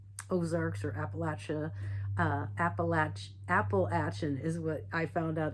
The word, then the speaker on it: Appalachia: you know, the Ozarks or Appalachia, uh, Appalach Appalachin is what I found out that's how you pronounce it, which I just thought was funny.